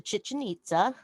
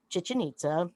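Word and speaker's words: Chichén Itzá: you've ever mentioned to chichen itza and when i was down there the the little guy called it he said if you want to know how to pronounce it it's much like chicken pizza so um chichi pizza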